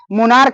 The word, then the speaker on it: monarch: मोनार्क होता है, मोनार्क में भी CH जो होता है वो क का उच्चारण देता है। जिसे देखो MONARCH, यहाँ जो CH है ये क का उच्चारण देगा, क का, जिसको क्या कहा जाता है, मोनार्क।